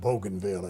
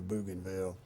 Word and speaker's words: Bougainville: coast of Bougainville Island, which we pronounced Bougainville at that time. It's probably Bougainville.